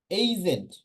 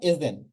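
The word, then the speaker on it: agent: এইজেন্ট, এইজেন্ট, নট এজেন্ট। It will be এইজেন্ট।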